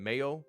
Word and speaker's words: Mayo: the name is from the Irish Mahan egg pronunciation Mayo much like the condoman yep I was right